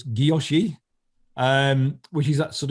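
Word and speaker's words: guilloché: right it's the gyoshi i usually say hiloshi but i was i've been listening to leslie on off bezel banter who is french and she says gyoshi so making sure i say it right so um french speakers will probably get me for this but it's gyoshi um which is that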